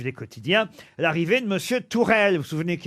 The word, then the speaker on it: Tuchel: Non, justement, ça se prononce pas Tuchel. Ah, parce que ça Ça s'écrit s'écrit Tuchel, Tourelle. on est en France. Ça s'écrit Tuchel. C'est H en allemand, c'est R. Exactement. Voilà. Et U, c'est OU.